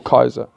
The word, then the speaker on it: Caesar: was a self styled Caesar or Kaiser as it should be corre correctly pronounced so is Hitler um